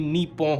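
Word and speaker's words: 日本: अगर आप इसे इंग्लिश में लिखा हुआ देखोगे तो आप इसे निप्पोन करके प्रोनाउंस करोगे, लेकिन असली प्रोनाउंसिएशन इसकी निप्पोन होगी।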